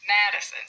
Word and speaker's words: Madison: We don't say medicine or medicine, it's Madison. So we pronounce that one a little bit louder.